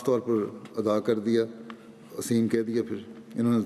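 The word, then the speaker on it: الأثيم: شَجَرَتَ الزَّقُومِ طَعَامُ الْأَثِيمِ، تو اس سے اسیم ادا نہ ہوتا تھا۔ تلفظ تھا ایرانی کا، وہ صحیح طرح ادا نہیں کر سکتا تھا اسیم کے لفظ کو۔ وہ ہر دفعہ اسیم جب یہ کہتے تھے وہ یتیم کہہ دیتا تھا۔ حضرت ابی نہایت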